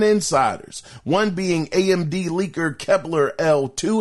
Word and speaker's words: Kepler L2: one being AMD leaker Kepler L2, his name is spelled Kepler, the letter L and the number 2, and the other being Moore's Law is dead.